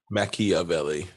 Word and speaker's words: Machiavelli: He actually pronounced it correctly. You say he said he used it correctly? He pronounced it correctly. He wasn't actually talking about Pac. Machiavelli, Mm-hmm. not Machiavelli.